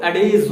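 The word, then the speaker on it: adage: इसको अगर सही प्रोनाउंसिएशन इसका करेंगे तो अडेज होता है।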